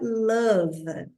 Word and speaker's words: love: comenta muito é a palavra love muitas vezes o o vai ter som de como na palavra mother né uma que a